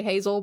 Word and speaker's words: Hazelle: I know some people say Hazel, but it's spelled h a z e l l e.